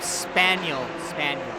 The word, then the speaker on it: Spinall: That's how you pronounce his name. Spaniel.